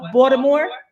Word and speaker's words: Baltimore: You from Baltimore? Let me say it right. Baltimore. That's what they say, two and do.